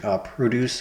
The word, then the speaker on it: produce: Emphasis on first syllable equals fresh fruits and vegetables. Emphasis on second syllable, make or create. Produce or produce.